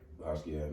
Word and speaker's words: Basquiat: I know, we all heard of the Basquiat. Am I saying it right? Basquiat, man.